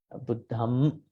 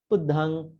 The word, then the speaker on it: Buddham: The makaranta ends in M, as Hema said. Buddham, Dhammam, check about your way how you pronounce. Then the second one, Niggahita, Buddhang Saranang, Buddhang Saranang.